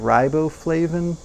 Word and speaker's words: riboflavin: Along with that, you get 190% of folate, 680% of B6, 350% of niacin, 380% of riboflavin. That's how you pronounce it.